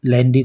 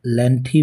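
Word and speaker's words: lengthy: दर्शकों, लेंदी को लेंथी भी प्रोनाउंस किया जाता है।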